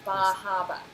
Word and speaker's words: Bar Harbor: My husband and I lived on the coast of Maine, really close to Bar Harbor, or Bahaba. That's how they say it.